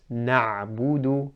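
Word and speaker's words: نعبد: to a sukoon, and really it's just about not rounding the lips enough. So for example, na'budu, na'budu. And that's about rounding the lips, na'budu, as we mentioned before.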